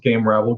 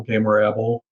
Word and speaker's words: Gamerabble: g-a-m-e-r-a-b-b-l-e dot com and of course you can pronounce it game rival game rebel get gam ravel gamer able i've heard a lot of different ones doesn't matter to